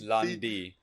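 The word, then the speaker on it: Lan Di: Yes, Landy.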